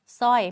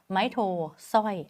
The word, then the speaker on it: สร้อย: ไม่ แท้ นะ คะ เรา จะ ไม่ อ่าน ซอ กับ รอ รวม กัน เรา จะ อ่าน แยก กัน ส ร แยก ตัว กัน ไป เลย ให้ รู้ ว่า ควบ ไม่ แท้ เรา ไม่ ร่วม มือ กัน นะ 2 คน นี้ ส.ร ส ไม้ โท สร้อย ไม่ ต้อง มี ร เรือ นะ ส ร ย ส ร สร้อย อาหาร แบบ นี้ ค่ะ